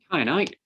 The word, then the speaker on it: kyanite: But the Greek is from K, so it's hard. So it's a hard C. It's a hard C rather than a soft C.